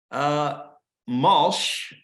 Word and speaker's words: Malsh: The prize winner is Rick Malsh. And I've been told it rhymes with Walsh.